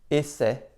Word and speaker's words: essai: En début de mot, devant une même double consonne, on prononce aussi « et ». Par exemple, erreur, essai, effacer.